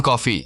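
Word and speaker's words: Coffey: John ने कहा John कॉफी जैसे पीने वाली कॉफी पर स्पेलिंग अलग है।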